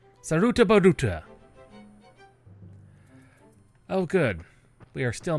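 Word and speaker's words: Sarutabaruta: The things we do to get to Sarah Batuta. Saruta Buta. Oh, good. We are still mounted. Saruta Buta. I can't believe I've been mispronouncing that. this entire time. It is Saruta.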